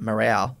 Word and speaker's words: Marou: not not only that Jeremy's actual name is pronounced morale right but because Jeremy was just sort of